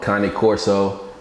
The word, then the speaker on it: Cane Corso: so that was documentary with Connie Corso most popular known as cane corso I don't think I'm gonna stop calling a cane corso but salute to the proper pronunciation you feel me oh